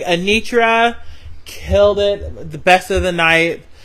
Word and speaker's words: Anitra: Anitra.